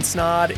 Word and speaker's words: Snod: My name is Snod. It rhymes with Odd and you're listening to watching the Rhymes with Odd podcast.